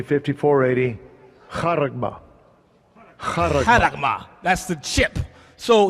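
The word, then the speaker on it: χάραγμα: Haragma, it pronounces it. So you know how it's pronounced. Strong's G, 5480. Charagma.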